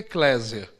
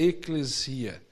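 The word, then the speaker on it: ἐκκλησία: um termo ou outro o usual no brasil e kleiser mas o correto é na pronúncia seria eclesia essa é a pronúncia muitos quando chegaram no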